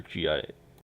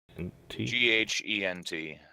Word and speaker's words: Ghent: Is Gent Gent or Gint? Ghent.